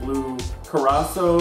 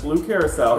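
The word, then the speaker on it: blue curaçao: And then when I first started the show, I said blue carasso or blue, but it's blue curacao.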